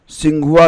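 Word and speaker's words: Tsinghua: इसको इंग्लिश में कैसे लिखते हैं, इसकी स्पेलिंग टी से स्टार्ट होती है, टी साइलेंट होता है, फिर लिखेंगे SINGHUA और पढ़ेंगे क्या, टी साइलेंट, तो इसे पढ़ेंगे सिंघुआ यूनिवर्सिटी।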